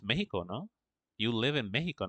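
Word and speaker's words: México: Yeah, Mexico is spelled with an X, but it's this. It's said with a J.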